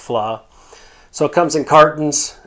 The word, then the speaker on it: vla: but it's called flaw that's VLA but it's pronounced flaw so it comes in